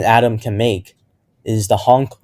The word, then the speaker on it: HONC: Now, one trick that might help you remember how many bonds an atom can make is the honk 1, 2, 3, 4 rule. So it's spelled HONC and then 1, 2, 3, 4.